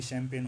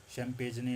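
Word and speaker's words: champagne: जैसे कि आप देखेंगे शैप होता है, मशीन होता है, ये शैम्पेन होते हैं, इसमें जी साइलेंट है, कोई इसको शैम्पेजने या चैम्पेजने ना पढ़ ले।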